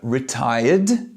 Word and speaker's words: retired: The first verb, retired, sounds like a D.